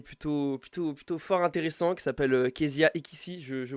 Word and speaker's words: Keziah Ekissi: Et aujourd'hui, on est avec un petit invité plutôt fort intéressant qui s'appelle Kezia Ekissi, je prononce bien.